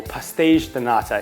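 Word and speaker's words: pastéis de nata: cooking my new favorite pastry portuguese tarts or pastiche donata if you want to say it correctly they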